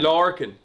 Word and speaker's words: Lorcan: No, I say Lorcan is fine. Lorcan.